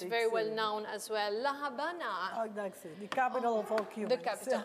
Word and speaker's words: La Habana: la havana you know it's written havana but we pronounce it it's a small city compared to the others it's very well known as well la habana the capital of the